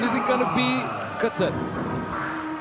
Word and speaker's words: Qatar: Is it going to be Qatar? It's going to be interesting. By the way, thanks to Kyle Montgomery, I learned the actual right pronunciation ofQatar. I I'm used to say Qatar cuz that's how we say it on my